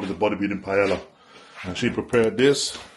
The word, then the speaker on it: paella: call it the bodybuilding paella. And she prepared this right here. Cooked this. So that's my post-workout meal. Is it paella? I think it's paella. Paella. Because that's how it's pronounced in Spanish.